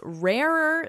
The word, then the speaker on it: rarer: It's rarer still. Listen to the pronunciation here. Rarer, rarer. So we have rarer.